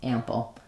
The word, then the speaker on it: ample: an sound if you're going to write a vowel for it, or a little bit of a schwa, ample. So similar to example or sample, same vowel sounds and rhythm.